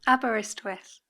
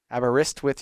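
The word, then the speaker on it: Aberystwyth: you say the name abber how is that pronounced abist with abist withth abist withth University there yeah she's an awardwinning author of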